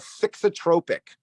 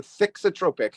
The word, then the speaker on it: thixotropic: this is a fancy science term it's called fixotropic it's a thixotropic oh should I spell that for you I feel like I'm in